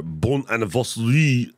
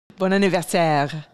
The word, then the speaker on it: bon anniversaire: Did I say that right? Was that Canadian? You're close. Okay. Well, how do you say it? I don't like being close. I like being right. Bon anniversaire.